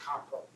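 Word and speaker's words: Kampo: hog farm in China the Japanese is pronounced compro so compro medicine is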